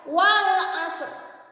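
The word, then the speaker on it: والعصر: Maka ini juga dibacanya ro tafkhim. Wal asr. Lidahnya diangkat. Wal asr.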